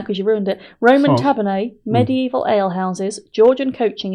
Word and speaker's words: tavernae: Tavernae. Really? That's what that says, tavernae. Yes, you can put your glasses on to read it, because I pronounced it correctly.